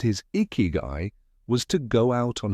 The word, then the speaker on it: ikigai: The word icky, pronounced icky guy, is made of two Japanese words, icky, life, and guy, value or worth, your reason for being.